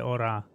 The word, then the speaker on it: hora: Don't pronounce the H. Okay, so ¿qué hora es?